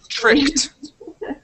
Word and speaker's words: tricked: there now this word here is tricked tricked there you go good good just like the word walked okay uh but yes